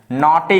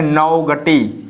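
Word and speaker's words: naughty: इसमें देख सकते हैं NAUGST, बाई, नॉटी हो जाएगा। क्या हो जाएगा, नॉटी हो जाएगा। कुछ लोग पढ़ेंगे नौगटी, क्या पढ़ेंगे कुछ लोग, नौघटी पढ़ेंगे, नौघटी पढ़ेंगे, ये हमारा उच्चारण गलत हो जाएगा, ठीक है ना।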